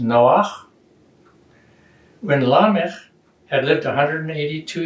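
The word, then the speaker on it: נח: 29, they talk about the birth of Noah, which in Hebrew is pronounced Noach.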